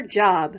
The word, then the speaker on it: Job: Ruth shouts 1, 2, whee before going off to her job, which in the Bible is pronounced Job.